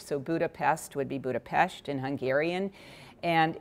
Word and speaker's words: Budapest: would be in English the S is pronounced s H so Budapest would be Budapest in Hungarian and it's